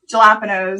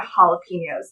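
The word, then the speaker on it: jalapeños: I also call jalapenos.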